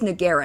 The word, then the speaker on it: Nogueira: apologizing the Michaela Nogueira it is nagera not naguero right I think I've